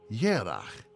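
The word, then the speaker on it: ירח: This is also why Hebrew for month is written like the Hebrew for moon, though the two words are pronounced differently.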